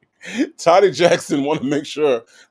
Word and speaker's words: Toddy: Toddy Jackson was like, "No, no, Native, no, it's not Toady, it's Toddy."